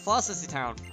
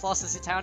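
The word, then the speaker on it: Floccesy Town: Is it even pronounced Flossissy Town? I've never watched the anime of, like, past halfway through Gen 2 anime, so I don't know how things are supposed to be pronounced. I'm just assuming it's Flossissy Town. It has a lot of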